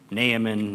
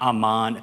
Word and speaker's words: Naaman: Naaman, not Aman.